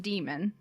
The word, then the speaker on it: daemon: of their souls and it's written like daemon but it's pronounced demon and when they're a